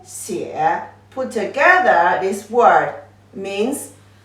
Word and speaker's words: 写: 点竖一个 short 竖横折折横弯钩横横 The pronunciation is 写 It is a verb, means write. So 书写 put together this word means you write something.